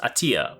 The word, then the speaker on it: Athia: this one is project attea or 8th year I mean apparently is pronounced attea but either way a theá-- attea however you want to pronounce it honestly it doesn't even